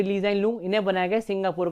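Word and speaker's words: Lee Hsien Loong: है ली जाइन लूंग, यहाँ पे H साइलेंट है, ये ली जाइन लूंग, इन्हें बनाया गया सिंगापुर का भी नया प्राइम मिनिस्टर।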